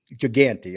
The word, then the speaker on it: Gigante: to talk about louis ginger how would you pronounce his last name jeff giganti gigante okay i just want to make sure that